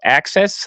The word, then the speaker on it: AXS: But the SmackDown and Raw, I believe they use a website called Access. I think that's how you pronounce it, AXS.